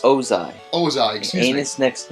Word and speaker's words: Ozai: An anus next to Oze's. I don't know if I'm pronouncing that correctly. Let me see it. It's Ozai.